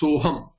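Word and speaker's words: सोऽहम्: You will get soham. Soham. The Avagraha cannot be pronounced.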